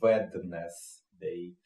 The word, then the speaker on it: Wednesday: А среда это Wednesday, но те, кто знает, как это пишется, через D оно пишется, да, то есть как бы Wednesday.